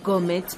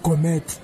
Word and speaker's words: gourmet: May I please have this gourmet pizza? Eh, my sister, rape o joka re korona bua kome. Gane di ntshang ka wena. Ma'am, it's not gourmet, it's gourmet.